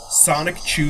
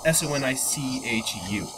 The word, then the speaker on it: Sonichu: but no, it's spelled SONICHU. Oh, okay. So, Sonic. the way it's... Unless the creator meant it to sound like Sonichu without the K, but I always hear people say Sonic Chew.